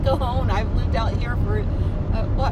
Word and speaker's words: Cajon: And yes, it's pronounced Cajon. I've lived out here for, 40-something years. And it's like, well, there's a J in it. And it's like, it's Cajun.